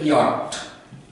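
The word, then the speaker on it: yacht: ওয়াই এ সি এইচ টি, এটার উচ্চারণ হলো ইয়ট।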